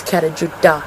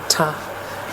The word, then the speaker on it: Kata: like the t the sound doesn't exist it's pronounced like a dip so it's kata not tough um so yeah you know there's it's pretty